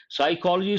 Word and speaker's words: psychology: to consider for example we say psychology psychology starts with s sound but what is the first letter in Psychology p is a first letter that's a silent letter so you have to